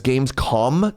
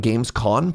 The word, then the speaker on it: gamescom: It's Gamescom, not Gamescom.